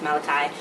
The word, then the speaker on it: Malachi: plays Beast, Malachi Barton, I accidentally mispronounced his name before. I call him Malachi, but his name is Malachi. Malachi Barton, that's how you pronounce his name.